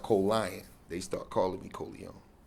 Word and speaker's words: Colion: tried to kill me it's pronounced colon they start calling me Kon colion okay colon that's how it's pronounced